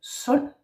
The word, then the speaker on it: sund: an RD at the end, and the D is silent, ho, meaning hard. Another example is, for example, sund, an ND, yeah, also silent D, sund meaning healthy, yeah, or a sund, like a body of water.